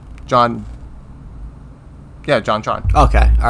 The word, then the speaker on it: JonTron: Yeah, JonTron.